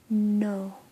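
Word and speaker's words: नौ: first learning it but nine is no so it's either written as no so sort of like nor but without the r or no because it is more of an au sound than an o sound and then so those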